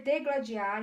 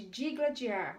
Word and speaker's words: digladiar: Dizer degladiar em vez de digladiar, ortoépia.